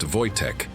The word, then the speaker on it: Wojtek: They named him Voytech, pronounced Voytech, meaning joyful warrior.